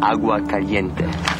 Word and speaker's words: Agua Caliente: It's pronounced Agua Caliente.